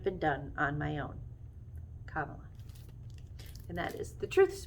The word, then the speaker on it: Kamala: we get started first my name is pronounced kamala like the punctuation mark it means lotus flower